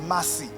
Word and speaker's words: Massi: said no you said messy my name is Massi you know you the way Kenyans pronounce messy they call it Massy so she said my